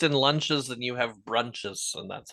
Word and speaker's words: Bruintjes: BRUINTJES. Brunches. Like Bruins.